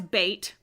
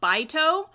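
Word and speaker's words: Beit: don't know how I always read it as bait because it is spelled b-e-i-t but in the show they pronounce it bito which makes sense because then it's a pun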